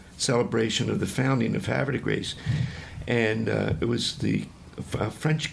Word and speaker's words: Havre de Grace: Havre de Grace? Yeah, that's the way we pronounce it.